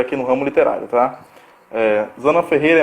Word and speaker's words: Zana: Nós estamos na metade do nosso percurso e vamos começar hoje com a escritora Zana Ferreira, né?